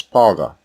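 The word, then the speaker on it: פרעה: When Exodus 2 and 10 was read earlier, if you were listening carefully, you heard the word Pharaoh pronounced as Paga, and not Pharaoh.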